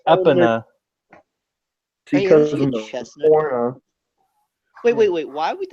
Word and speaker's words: Epona: a pony figurine that's not Epona now the point it's pronounced up Anna wait wait wait why